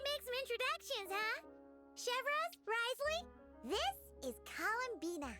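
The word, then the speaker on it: Wriothesley: Risley, that's how you say his name.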